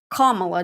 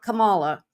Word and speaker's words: Kamala: know why Kamala and it's pronounced Kamala not Kamala and you know that